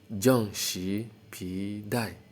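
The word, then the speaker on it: 正时皮带: So it's pronounced as Zheng Shi Pi Dai.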